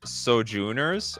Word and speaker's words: Sojourner: swamps on the battlefield it's pronounced soj junor oh thank you for letting me know I like Sojourner though first one it